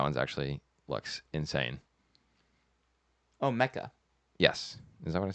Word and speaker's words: Mecca: Oh, Mecca. Yes. Is that what I said? You said Macaw.